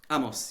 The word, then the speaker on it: Amos: Now, one of your frequent collaborators, and I want to pronounce his name correctly, he said Amos. Amos, yeah.